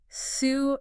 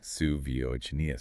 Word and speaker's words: Savonius: That's s a v o n i u s, pronounced Su-vo-ni-us. Su-vo-ni-us.